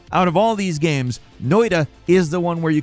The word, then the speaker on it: Noita: Starting off at number 10, it's Noita. Yes, I say it like it's a D. That is my Midwestern accent.